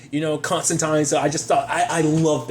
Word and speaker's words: Constantine: on NBC was out he was always pushing for the whole constant time because I think that is the proper pronunciation but I'd never stuck with that I've always been a Constantine person I think most people